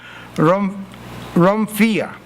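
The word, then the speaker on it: ῥομφαία: poner el énfasis en el idioma, cómo lo pronuncia, eso literalmente en el idioma original. Pero se llama romfía.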